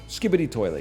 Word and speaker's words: Skibidi Toilet: Anyway, long story short, Skibidi toilet is a it's a Is series. that how you say it? Skibidi toilet, yeah.